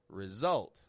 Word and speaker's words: result: But then, result. This word has S beginning the strong part of the word, not the weak part of the word. Result. So this just means you've